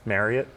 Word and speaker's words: Marriott: Fun fact, did you know how to appropriately pronounce Marriott? Like I think a lot of people, it's like chariot. Marriott like chariot, So just a fun little tidbit.